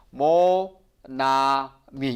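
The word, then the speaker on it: Monami: 그래서 몽환아를 생략을 해요 그런데 반대로 여기에서 자음과 여기에 모음이 왔어요 자음과 모험이 왔을 때는 요것이 한 음으로 발음이 돼요 그래서 여기까지 읽으면 뭐 그 다음에 Nana 하니까 여기 한 글자로 대해서 나로 말입니다 그 다음에 m이니까 미 그래서 모나미 이렇게 발음이 되는 거예요 그렇죠 같이 읽어 보실래요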